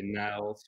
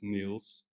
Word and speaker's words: Niels: Most people cannot pronounce it because most of our customers and traders are in the US and they say Niles or Neil, but it doesn't really matter for me. But the right way to pronounce it is Niels.